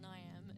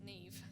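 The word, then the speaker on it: Niamh: Because it's not Niam, it's Neve, because it's Irish.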